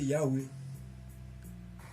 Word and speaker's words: Yahweh: Parce que ça sera prononcé Yahweh.